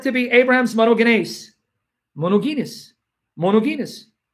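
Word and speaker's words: μονογενής: I know in Greek you don't pronounce the G, right? It's monogenes. Monogenes.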